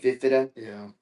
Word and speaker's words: Fifita: That quarterback, that Fifta, Noah Fifta, is that how you pronounce his name? Fifida, I think. Fifita.